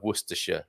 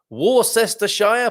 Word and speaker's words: Worcestershire: worcestershire source of course it's hard not it's hard to say that wrong war sister shire possibly is how some people might go about it okay thanks a lot